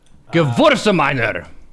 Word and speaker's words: Gewürztraminer: What's the way you pronounce that again? Gewürztraminer.